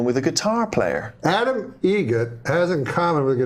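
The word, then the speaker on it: Eget: Egget. Spelt differently. Like the bird. That's Egret. Do you know what Adam Egert has in common with a guitar player? Adam Egget has in common with a guitar player.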